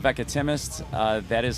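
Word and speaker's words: Veckatimest: now yeah yeah um the album is called veca timis uh that is how you pronounce it a lot of people having a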